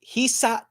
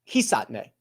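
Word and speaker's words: Hisatsune: The most recent one I'm going to go with is Hisatne. Hisatne. The Su's very low. You hit the sat. Yo. Hisatne would be the way that I should say it.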